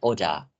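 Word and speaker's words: oder: teman-teman lihat penulisannya itu kenapa bilangnya OD karena teman-teman dalam bahasa Jerman huruf r itu tuh kalau dia ee ada ada sebuah kata yang di mana akhiran dari kata itu adalah R ya Jadi r-nya ini tu enggak terlalu kentara teman-teman jadi agak halus gitu makanya aku bilangnya Odah jadi R itu kayak huruf a lah istilahnya dibacanya gitu ya gitu Tapi kalau konteksnya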